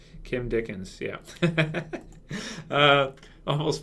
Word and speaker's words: Kim Dickens: and she is fantastic is it Kim dickham or Dickens yeah yeah Kim Dickens yeah uh almost mispronounced